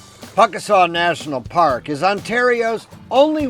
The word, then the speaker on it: Pukaskwa: Yes, despite those few extra consonants, it's pronounced Pukaskwa.